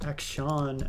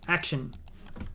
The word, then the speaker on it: Akshan: how you pronounce her people pronounce akshan akshan but i think it's action it's an an it's like an anagram or whatever of the word action they're trying to be clever exon it's just action i can see through